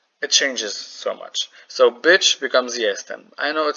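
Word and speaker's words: być: Bitch, not bitch, in English, means to be. So I know it is written, it is pronounced like bitch, but like it's not bitch.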